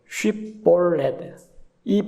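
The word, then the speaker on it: 쉽볼렛: 쉬볼렛이 발음을 하라고 하는데 에브라임 지파는 발음이 거칠기 때문에 볼렛하고 발음이 납니다. 란 발음을 못 해요. SH 발음을 못 합니다.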